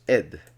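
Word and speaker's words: עד: matter will turn out the word until okay which is ad ad until could also be pronounced ed which is witness so one finds the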